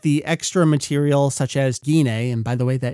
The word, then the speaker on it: Gine: you worried that the extra material such as guina and by the way that is how you pronounce a name uh will be exclusive to